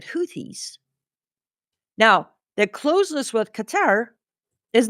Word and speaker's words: Qatar: Because I've read that Qatar or Qatar for our US viewers who can't pronounce it correctly because it's with an A,